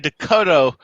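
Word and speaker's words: Decoteau: i thought it was when i heard dakota i thought it was but i didn't realize it was this d-e-c-o-t-a-u t-e-a-u yeah it's it's french so i know that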